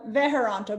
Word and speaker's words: Veharanta: Veharanta, but it's close enough. Like people, it really is just how it looks, but people see it and it looks intimidating with lots of letters.